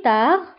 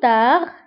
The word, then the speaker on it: tard: on verra, sanara, plus tard, lahiqan, fa, ntabou binsbal plus tard, fa binsbal plus, naktubwa b'es akhe l'kalimu, lakin la nantikouha, ou tard, نكتبها بالد في آخر الكلمة ولكن لا ننطقها.